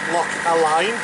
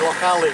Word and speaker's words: Loch Aline: I'm told it's not Lock Align as it uh looks as though it is on the chart. The locals say Lock Alley.